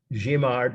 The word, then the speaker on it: Guimard: So cross out Guimard, that's how you pronounce it, Paris Metro Station, not to be on the test.